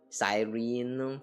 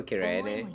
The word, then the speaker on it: Cyrene: You know, now that I have like gotten used to the Japanese pronunciation, I do prefer Kirene. So Siren or Sirene, that sounds very weird to me.